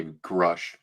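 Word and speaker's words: Grusch: an an X space that David Gruch, is that how you say his name, Brian? Uh, I think he prefers if you say Grush. Grush. I've heard it both ways.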